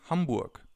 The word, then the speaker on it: Hamburg: you could say is Hamburg. Is Hamburg. I'm from Hamburg. As you can already see or hear, some cities have a different pronunciation in German than they have in other languages.